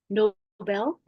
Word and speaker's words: Nobel: The word Nobel Prize is not as in being noble. It is actually after a name of a person, Alfred Nobel. I think it's pronounced Nobel.